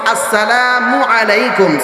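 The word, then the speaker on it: السلام عليكم: একজন আরেকজনকে সালাম দিব আসসালামু আলাইকুম। সালাম দেওয়ার সময় মিমের পেশের মধ্যে যখন উচ্চারণ করব, মিমটা যখন উচ্চারণ করব তখন ঠোঁটটাকে গোল করে ফেলবো। মিমের পরে মিমের পরে আইনটাকে সঠিকভাবে উচ্চারণ করব।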